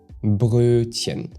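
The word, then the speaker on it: Brötchen: And the difficult part is the uh and then the tch that follows after. The uh is not the same as the English o. Now, once you get that, the rest of the word will come naturally.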